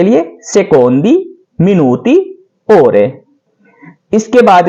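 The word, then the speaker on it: secondo: सेकंड, सेकोंदो, बहुत से सेकंड, सेकोंदी।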